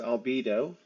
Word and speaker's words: albedo: out So, I have learned that al- it's pronounced albedo according to what they were just saying.